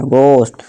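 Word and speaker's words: ghost: इस तरह white, गोस्ट, ठीक है दोस्तों, एच को साइलेंट करना है, गोस्ट।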